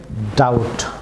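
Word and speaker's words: doubt: যেমন ডি ও ইউ বিটি, viewers এখানে বি সাইলেন্ট থাকবে, ডাউট।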